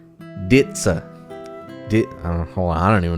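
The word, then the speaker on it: dizi: It's spelled D-I-Z-I, but it's not dizzy. It's pronounced ditsa.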